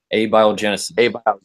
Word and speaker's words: abiogenesis: do a video on Aaron raw about bio abiogenesis did I pronounce that right I ate biogenesis is how I've always pronounced it but I don't know if I'm ready abiogenesis yeah and if I'm not mistaken if I